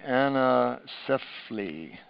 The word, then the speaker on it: anencephaly: Yeah, she pronounces it way better than I do. Anencephaly.